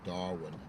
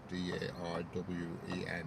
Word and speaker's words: Darwen: or anything, it's called Darwen, D-A-R-W-E-N. That's where I live, in Darwen. Yeah, it's like the one in Australia, but spelt with an E instead of an I.